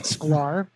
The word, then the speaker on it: Schklar: and then um now my name is sklar uh rhymes with scar so uh people who